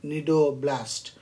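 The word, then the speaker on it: nidoblast: what is needle blast c is silent nido blast and of course section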